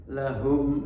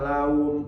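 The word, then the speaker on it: لهم: lagi pertama yaitu h Ini kebanyakan pengucapan kurang Hames atau kurang masuk ke dalam umpamanya lahum ajruhum dibaca laum ajruhumabihim ya sampai baca Fatihah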